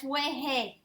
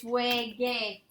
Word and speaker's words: juegue: How do you pronounce that word? That's weje. Weje. No, you want to maintain the original sound. It's wege. Where does the accent go? On the E.